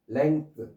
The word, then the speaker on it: length: 롱에 5가 2가 되고 뒤에 th 붙였는데 이게 쓰로 발음하는 거예요. length 발음 기호가. 네, 쓰. 자꾸 이제 이 쓰가 나오는데 뭐 입 모양이 이렇게 돼 있다라면은 운니와 아랫니가 있으면 여기 혀가 있으면서 혀를 대고 뜨뜨뜨뜨 이렇게 해서 뜨뜨뜨뜨 이렇게. 예. 무성음입니다.